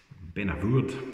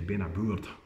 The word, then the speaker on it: Beinn a Bhuird: Benabourd is often how you hear it pronounced, but I've been reliably informed by my